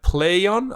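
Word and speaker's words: Plaion: something just as weirdly awkward and spelled uh play on i'll play on as apparently it's pronounced uh spelled p l a i o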